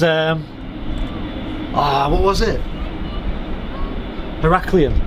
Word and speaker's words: Heraklion: ah what was it heraklion is how you pronounce it yeah but i was saying like eric halloween or something how you can say it now yeah and uh